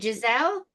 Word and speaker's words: Giselle: And then I went to watch, was it Giselle?